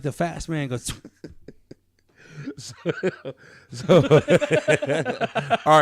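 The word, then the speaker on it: Geaux: So we're all go in G-O or G-E-A-U Tigers. Remember, that's how they say it in Louisiana.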